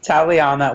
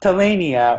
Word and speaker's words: Taliana: Like, so there's the whole thing where Mandy is his daughter, but then we meet Taliana, which that's how you pronounce it. It's not Talania or Taline, it's Taliana.